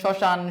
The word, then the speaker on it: শ্মশান: আমরা কি বলি স্মরণ শ্মশান সারক সো শব্দের শুরুতে যদি কোন বর্ণের সাথে ম ফলা থাকে তাহলে সেই ম ফলার উচ্চারণ হয় না ওকে যার কারণে বানানের